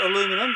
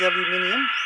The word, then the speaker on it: aluminium: pieces of aluminium unfortunately Americans can't pronounce aluminium it's not aluminum but it is aluminium just want to show